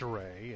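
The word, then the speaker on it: Rhea: Now, folks, if you're wondering about the Rays, Butch Ray, it's spelled R-E-A. Michael Ray, it's R-H-E-A. Sounds the same, no relation.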